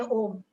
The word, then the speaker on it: Om: So we have three syllable in Om. A, U और मा.